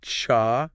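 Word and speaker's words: छह: Six is cha. Okay. Written and that's with like a bit of a breathy sound.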